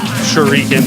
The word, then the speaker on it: Shuriken: Shuriken, pronounced as in Shoryuken. Sort of.